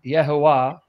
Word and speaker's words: Yehovah: No, Jehovah is the anglicized way of saying what's most likely the correct pronunciation: Yehovah.